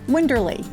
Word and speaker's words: Winderlea: morris sweat on a wine bottle and somehow winterly just spoke to us it keeps us close to our east coast roots and we think it's a pretty word although many people mispronounce it it's winderly yes in our former careers we're given the